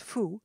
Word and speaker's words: faut: "Il ne faut," pronounced fou, "pas passer par là."